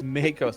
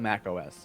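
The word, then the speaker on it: macOS: It's Makos, not Mac OS. Yeah. I pronounce it Dritzt.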